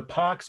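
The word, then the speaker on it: Pax: you should write it the pox P ax is is Latin for peace Romana just like it sounds Roman one word that's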